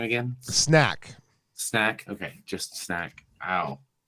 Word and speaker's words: Snek: Snack. Snack. Okay, just snack. Ow. Yeah, but it's spelled really cool. Yeah, SNEK.